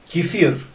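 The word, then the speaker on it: кефир: the milk drink that is called Keir Keir in Russian pronunciation uh this is a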